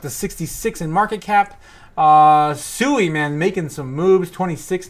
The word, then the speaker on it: Sui: That's Sui, if you guys want to pronounce it. Sui.